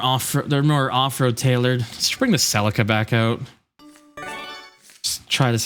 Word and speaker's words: Celica: I believe it is technically pronounced Celica, not Celica.